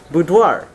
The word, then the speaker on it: boudoir: mark of official approval the word below that boudoir right and it means a woman's dressing room